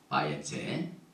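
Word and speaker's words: ויצא: 바엣제는 떠나서 야곱이 부엘셰바를 떠나서 카란으로 가더니 짧은 구절인데 이 단어는 여러분들이 보면은 바에제 떠나다 야곱 미브엘셔바 베엘렉 가더니 카라나 하란으로 이렇게 발음을 합니다.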